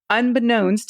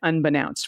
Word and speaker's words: unbeknownst: used the word unbeknownst unbeknownst is pronounced with a long o as in no and i said unbeknownst rather than an ow sound like now because i said unbeknownst